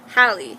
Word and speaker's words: Hallie: And when her friend, Hallie, that's how they pronounce her name. When Hallie gets killed and the